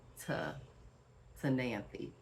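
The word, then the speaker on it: Ctenanthe: n a n t h e so it's pronounced T to nany okay how y'all like that little pronunciation lesson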